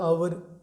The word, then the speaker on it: hour: इसी तरह एक वर्ड होता है आवर, HOUR, ठीक है।